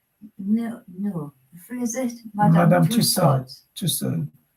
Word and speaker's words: Tussaud: Tussaud. In French, AU is pronounced Tussaud.